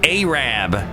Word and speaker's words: Arab: Like, They have a town called, well, it's spelled like Arab, but they say Arab.